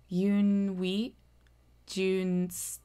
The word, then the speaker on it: Yunwi Tsunsdi: and that's u n we j n d Yun Jun Yun Jun okay so now that that's out